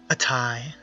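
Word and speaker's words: Atei: Atai.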